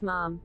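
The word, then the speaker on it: ma'am: majesty and afterwards as mum ms dolby explained that pronunciation should rhyme with ham not harm and guests must revert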